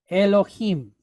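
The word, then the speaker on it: אֱלֹהִים: Lo him, right? Aleph, silent letter pointed chetef segol. Lamed pointed holem, lo. All right. Hey pointed kiri kyod with mem sofit. Im, him, Elohim. Elohim.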